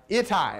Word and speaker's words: Ittai: David is having reversals, and out of the woodwork emerges Ittai. How do you say that, Mike? Help me. Ittai, all right?